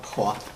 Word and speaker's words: Hua: Oh, Qua. Qua. Qua, yeah. Qua. Spell that for me.